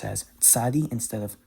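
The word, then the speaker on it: צדי: And then sodi. But by pronouncing it as tsadi, you can hear that's a lot sharper. It's easier to understand what letter is being pronounced when you pronounce it as tsadi instead of sodi.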